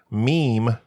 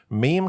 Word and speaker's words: meme: is Celtic in origin meme comes from the Greek M but it's pronounced to sound like the word Gene Richard Dawkins 1976 book